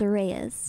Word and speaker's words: Reyes: My last name is Reyes. Just Reyes. Yeah, okay, Reyes. Just like it's spelled.